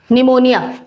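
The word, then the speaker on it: pneumonia: लोग देखते हैं निमोनिया निमोनिया पी साइलेंट है ना किससे इफेक्ट होता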